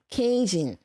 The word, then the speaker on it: Cajun: Cajun.